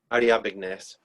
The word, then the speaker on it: Ariabignes: trireme, and actually takes out the Phoenician commander Ariabines. I'm not sure how to pronounce that. Yeah, Sorry? Ariabignes.